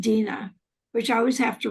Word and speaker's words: Deanna: And just even though Dina's name is spelled Deana, it's pronounced Dina, which I always have to remind myself.